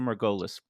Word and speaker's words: Margolis: with Dr Daniel Margolis Mar gois is that a good pronunciation Dan of your name Dr margolus perfect I like we spoke